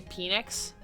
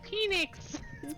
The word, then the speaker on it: Phoenix: six or seven um i couldn't pronounce the ph sound correctly so when i would say phoenix arizona i would say penix arizona and my mom